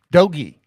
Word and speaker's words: DOGE: is one of the Doge guys dogy it's not Doge doge is crypto dogy is the Department of Government hard G efficiency hard e dogy but doge is the